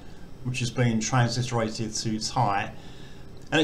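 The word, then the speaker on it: ถ่าย: And these two together make like a long I sound. So this is Thai, which means to take, as in a photo or a video.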